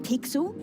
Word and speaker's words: Pixel: not weird guy i'm pixel it's easy to remember because it rhymes with pickle so better i'm faster